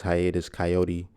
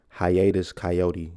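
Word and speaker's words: Hiatus Kaiyote: coyote listen to him Hiatus coyote and is not spelled like coyotes k-a-i-y-o-t-e um but if you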